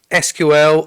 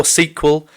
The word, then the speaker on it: SQL: for structured query language it can be pronounced SQL or SQL it's quite a troll